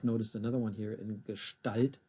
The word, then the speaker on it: Gestalt: And you might have noticed another one here in Gestalt, the ST. Almost sounds like a sh in it there. And it is.